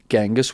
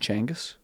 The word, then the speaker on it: Genghis: people are nomatic and actually the title um gangus which apparently should be pronounced changus but let's not do that cuz it's weird